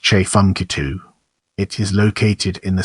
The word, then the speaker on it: Tchefuncte: the prehistoric CH culture period the name is pronounced CH funu it is located in the Southeast section of